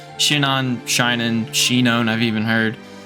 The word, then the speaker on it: Shinon: And I say his name as Shinin. I know that's probably jarring to hear that. It's hard for me to switch. I've called him that for so long. Shinon, Shinin, Shinon, I've even heard.